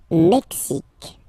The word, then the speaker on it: Mexique: Le Mexique. Mexique. It's really the X. Huh? Le Mexique. And then remember this Q-U-E, it's only K.